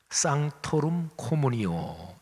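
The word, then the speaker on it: sanctorum communio: 라틴어로 하면 상토룸 코무니오 이렇게 발음합니다.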